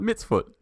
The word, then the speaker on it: mitzvot: Mitzvot? Mitzvot. Mitzvot. Okay. It's like an ot, not a ut.